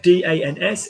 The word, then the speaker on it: dans: Pronunciation of DANS is Dans.